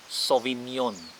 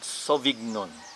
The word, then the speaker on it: Sauvignon: two sauvignon blanc all right the sauvignon blanc pronounced sauvignon not sovignon sauvignon blanc and then the blanc pronouns b-l-o-n-k